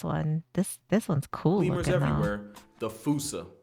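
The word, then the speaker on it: fossa: But the day fussa fauca. I I don't know this one. This This one's cool. Lemurs everywhere. The fousea. Although with its spelling, I'm pretty sure it's actually fauca. But the day I pronounce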